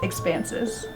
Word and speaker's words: expansus: And the second part of the name is Expansus.